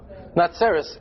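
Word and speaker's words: נצרת: See, in the Anglican version it sounds the same, but how do you say the city of Nazareth in Hebrew? Natsaris.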